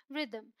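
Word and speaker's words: rhythm: है उसी तरीके से यहां एच साइलेंट है ये है रिदम ये है ऑनेस्ट एओ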